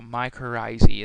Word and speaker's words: mycorrhizae: And the last slide here for this whole entire chapter is a mycorrhizae is how you say this. So mycorrhizae, and that's how fungi form mutualistic relationship with plants.